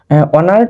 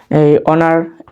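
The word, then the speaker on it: honour: হচ্ছে হি is dash অনার টু his country এই জায়গার মধ্যে কি আছে এইচ এইচ গত ক্লাসে বলছিলাম যে অনার পরে হচ্ছে অনেস্ট এগুলো থাকলে আমরা প্রথম লেটারটা উচ্চারণ হয় না বিধায় এজন্য এটা টা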